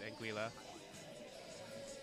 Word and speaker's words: Anguilla: I believe locally it's pronounced Anguilla, but it's about 5 different pronunciations that you could really realistically go with, and it wouldn't really be wrong.